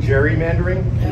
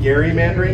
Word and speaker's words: gerrymandering: guys know the term gerrymandering it should really be gary mandarin because exam was appropriately pronounced gary that was his actual name so eldridge gary introduces